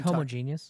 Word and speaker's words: homogeneous: That's actually pronounced homogeneous.